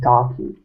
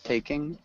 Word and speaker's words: taking: I said talking. Yeah. And so it's got a long A sound. Taking.